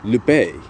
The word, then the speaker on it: Lupe: and even Dulcie later on, and Lupe, or Lupe, as it's pronounced.